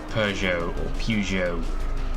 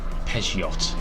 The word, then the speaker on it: Peugeot: Like I used to think Peugeot was Peugeot or something. I used to pronounce the T, and that's obviously wrong.